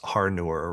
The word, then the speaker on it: Haruer: And um I think earlier I couldn't see that there was an R in the middle of your name. So your name is Haruer, right?